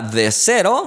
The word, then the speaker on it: The Sero: lanzar una pantalla llamada de cero bueno si es que así se pronuncia no es con z es con s entonces el nombre es